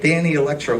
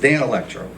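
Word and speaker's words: Danelectro: in the 30s 40s i said what was with that danny electro guitar you gave me he goes it's pronounced dan electro and that guitar was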